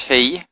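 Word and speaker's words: היא: she okay he Alf means uh she but it's pronounced he so it's confusing but it means she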